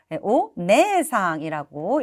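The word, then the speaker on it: お姉さん: 다나가 씨의 언니는 이니까 오네 상이라고 읽어 주셔야겠죠 남의 누나 남의 언니니까 정답은요 오네 상이라고 적혀 있는 3번이 되겠네요 우리 1번에 오네는 장음이 아니어서 틀렸고 2번에 있는 오니는 여기도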